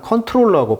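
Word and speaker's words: comptroller: 총장이라는 이름을 갖고 있는데 컨트롤러 제인데 이피가 오타가 아니고요 그냥 발음상 컨트롤러 발음한다고 해요 그래서 컨트롤는데 이제를 써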